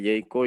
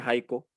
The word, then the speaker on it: Jaiko: la E, Jayco siempre, y yo crecí creyéndome Jayco, y de hecho, por eso mi primer correo, el Hotmail, dice Jayco, que después me generó un montón de conflictos, pero en realidad se pronuncia Jaiko, y es Jaiko, es castellano, en el español es Jaiko, así que...